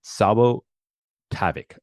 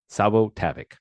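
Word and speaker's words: Tsabo Tavoc: Okay, the name of the card is Sabo Tavic. Let me spell it. Sabo, spelled T as in tango. S as in Sierra, A B O. Tavic. T A B O C. Sabo Tavic.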